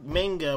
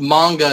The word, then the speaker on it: manga: we went through some manga, we went through Italian comic books. We just went through a lot of different things that were adapted this year. Pronounced manga, not manga, you uncultured swine.